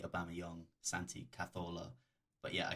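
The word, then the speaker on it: Aubameyang: pronounce their name Webber I keep calling it a balmy own his name is actually a Bama young Santi Cazorla but yeah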